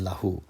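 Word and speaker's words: لَهُ: focus on the word lahu notice how short the lam is in lahu it is very very short and meanwhile the llama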